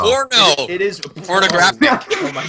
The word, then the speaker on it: Pono: What is this, like Pono Player? Pono Player? How do you say it? Pony Player. Oh, was it Pono? Because I said Pano earlier. Yeah, it's an O. Porno.